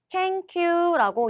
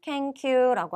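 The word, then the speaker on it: 研究: 연구는 캔큐라고 이야기를 합니다. 조금 어려울 수도 있지만 문자 위에도 나오는 단어니까요. 꼭 기억해 주세요. 연구는 캔큐라고 하고요.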